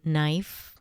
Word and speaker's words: knife: And, there are the obvious ones like the K in knife.